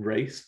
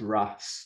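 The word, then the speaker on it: Raas: the the gods uh what i call in race but it's not it's ras that's how you're supposed to pronounce it because it's r double a s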